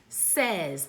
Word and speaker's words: says: That's why it's called a trick word, because the way that it's pronounced is different than how it is spelled. So our first trick word is say. Our second trick word is says.